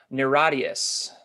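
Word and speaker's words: NIRATIAS: new record one more time how do you pronounce it niradius the radius i gotta remember that great record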